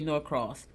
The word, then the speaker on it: Norx: Oh, well, okay, so it's pronounced, I said Norx, right? Because that's how it's spelled, Norx, but it's really Norcross. Like Norcross, like Norx.